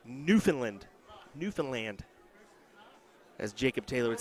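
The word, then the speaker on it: Newfoundland: Bron saying it's pronounced new found land buddy I got harassed for saying New Foundland it's uh I heard it's newfinland newfinland as Jacob Taylor would say little emphasis on the land but then again I'm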